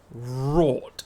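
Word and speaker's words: wrought: I know this one rot iron is how you pronounce it it's w r o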